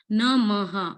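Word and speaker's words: नमः: So here Namaha, ma is a short letter, not mu.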